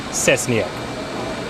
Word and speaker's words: Cesniak: Cesniak. Again, he's the Chief Operating Officer for the Houston Airport system. With that, here comes Mr. Jim Cesniak.